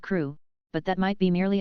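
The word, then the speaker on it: Crewe: difference in the name Madame Pascal pronounced it as if it were Kuru instead of crew but that might be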